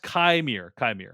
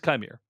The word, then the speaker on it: Qimir: That it is actually pronounced Chimere. So okay, wouldn't have guessed that, so I don't feel bad about it. But that's good to know. It is Chimere.